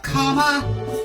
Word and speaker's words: Kamala: say ta-da at last her name we're learning to pronounce now it's comma not that hard you write